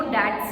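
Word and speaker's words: debt: वो ऑब्लिगेशंस हैं या वो डेट्स हैं। अगेन डेट इसकी तरह बी इज साइलेंट, है ना।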